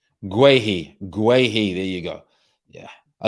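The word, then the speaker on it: Guaita: Guahi, that's how you pronounce it. Guahi.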